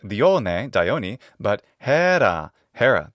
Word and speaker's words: Hera: the dioni but Hera Hera that's how her name is pronounced in classical adct pronunciation har in